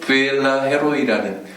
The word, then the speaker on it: 부엘라헤로이: 부엘라 헤로이라는 라헤로이, 이제 영어 발음으로는 부엘라헤로이 이렇게 읽어야 되더라고요.